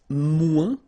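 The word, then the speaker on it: moins: Then if you want to say less, it's mu in French. So no discussion about the S here. Don't pronounce it.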